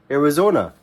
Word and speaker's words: Arizona: okay era era zone era zona three syllables error zona era oh maybe four era zone arizona this is arizona okay and this place